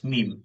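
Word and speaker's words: م: না দাঁতও লাগবে না জাস্ট দুই ঠোঁটে যে শুকনো স্থান আছে এই স্থানকে একত্র করে উচ্চারণ করবেন বাংলায় যে ম আছে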